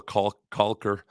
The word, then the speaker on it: caulk: you're not a professional caulker. I try to be careful when I use the word caulk. I all but pronounce the actual L, because on the radio it gets dicey.